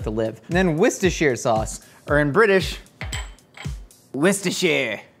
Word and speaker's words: Worcestershire: assured that they were, rest assured is kind of how you pronounce Worcestershire. Did that happen in all your minds too? I said rest assured, and you're like, no, it's Worcestershire.